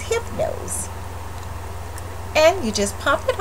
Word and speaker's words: Hypnose: cap that says Hypno's the Y is silent so the name of its Hypno's and you just pop